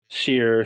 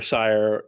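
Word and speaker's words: Cyre: for what happened in Seer, Sire, however you want to pronounce it. I've heard it pronounced so many different ways, and Keith is basically sort of let all those different ways go.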